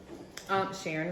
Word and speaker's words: Sharon: Sharon rhymes with Karen, so okay.